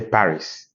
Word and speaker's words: Paris: said par in English you say Paris French WR Paris like the Paris in English but pronounced par the S is not pronounced so these consonants areent